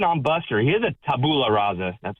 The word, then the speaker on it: tabula rasa: He is a tabula rasa. That's how you pronounce it.